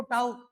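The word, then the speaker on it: tau: इसको टाउ टाउ pronounce किया जाता है।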